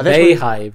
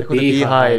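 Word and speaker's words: Beyhive: Not the bayhive, but the beehive. And it's spelled B-E-Y as well.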